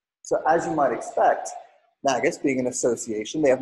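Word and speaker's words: NGAUS: together for an organization they pronounce their name magnets it's in G a us the National Guard Association of the United States so as you might expect Magus being an association they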